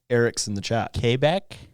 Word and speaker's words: Quebec: Quebec. There you go. Closer. Qua. It's not Quebec, that's for sure. Well, quu is a qua sound, right? We're not French.